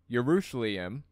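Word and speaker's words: ירושלים: of the name however the way we traditionally pronounce the city's name in Hebrew yerushalayim I guess is in the double form as if to allude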